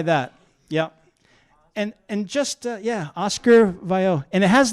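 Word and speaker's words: Viau: So this says Oscar, I don't know how you pronounce that. V-I-A-U. What do you say? V-I-A-U. Vio? Vio. Vio. Yeah. Oh, no. Vio.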